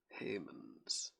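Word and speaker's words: Hemans: one was by oh that's his name felicia heymans not spelled like that spelled h-e-m-a-n-s that was lovely to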